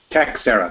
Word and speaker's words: Teixeira: It's Teixeira, the hard X.